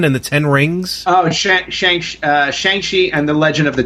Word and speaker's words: Shang-Chi: Oh, Shang-Chi and the Legend of the 10 Rings. Oh, okay. So I've been mispronouncing it.